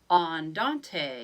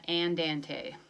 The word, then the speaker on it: andante: tempo for this one andante yes you have to use the Italian pronunciation not and ante not gonna do it andante means moderately slow so